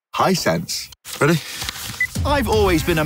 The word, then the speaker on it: Hisense: do you say it hey sensei hi Hisense buddy I've always been